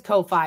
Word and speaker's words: Ko-fi: Yes, it is Ko-Fi. It's spelled like K-O-F-I with a dash.